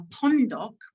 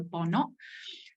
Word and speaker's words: pondok: the life of a pondok. Pondok is the Bahasa Malay word, pondok, but it's been, how it's read in Thai, how it's transliterated in Thai is pronounced slightly differently without the harsh ending.